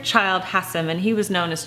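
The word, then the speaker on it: Childe Hassam: Frederick Child Hussam and I did look up how you pronounce his name because it's a bit confusing Frederic child has him and he was known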